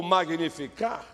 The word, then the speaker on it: Magnificat: Você está com a Bíblia aberta no Magnificat? Ou Magnificar? Tratando aí que o T muitas vezes, dependendo aí da pronúncia, é mudo.